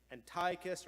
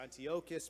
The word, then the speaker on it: Antiochus: literature they speak of the arch villain Antiochus or Antiochus depending on your pronunciation the fourth this person